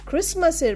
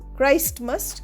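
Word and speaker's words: Christmas: Jesus ক্রাইস্ট বলি কিন্তু ক্রাইস্টমাস বলি না এখানে ক্রিসমাসের বেলায় কিন্তু আমরা একটু অন্যরকম উচ্চারণ করি ক্রিসমাস ক্রাইস্টমাস কিন্তু নয় ডেকোরেট হাউস ফর ক্রিসমাস।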